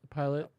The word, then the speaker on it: Pilate: But for Pilate and the soldiers, did I say it wrong? Yes, pilot.